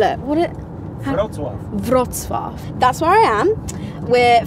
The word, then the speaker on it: Wrocław: I can't remember how to pronounce the name. What do we call it? Wrocław.